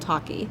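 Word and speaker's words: Tocky: an early it's called talkie talkie okay um it's kind of which is spelled differently it's like Clocky but with a t t o t o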